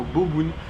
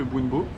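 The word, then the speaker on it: bún bò: C'est les français qui ont transformé ça en boboun parce que le boun bo c'était pas assez beau pour eux et que c'était plus facile à prononcer boboun que bounbo. Mais ici ça s'appelle des boun bo.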